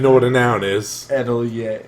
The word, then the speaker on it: atelier: Atelier. Atelier. It doesn't spell. There's more letters in how it's pronounced than it's spelled.